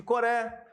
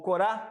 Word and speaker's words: Coré: Não sabemos se, volto a repetir, se é um dos filhos de Coré, ou Corá, né? São duas formas de se pronunciar.